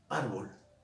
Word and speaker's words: árbol: Árbol. Árbol. ¿Lleva acento o no lleva acento? Es grave porque lleva la mayor fuerza de voz en la penúltima sílaba.